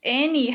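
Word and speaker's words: Anne: it an okay yeah even though it has a e at the end they still pronounce it and halfway now if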